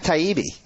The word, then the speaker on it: Taibbi: long so sorry about that we have Matt taibi of that's how you pronounce it right right right because your dad